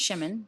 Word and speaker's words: Shimon: his name was uh Simon pronounced Shimon because that you know that's how they pronounce it and so um uh